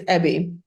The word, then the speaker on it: EBY: I am super excited to have you here, co-founder and CEO of, I don't know how to pronounce it. Is it EBY or EBY? It's EBY.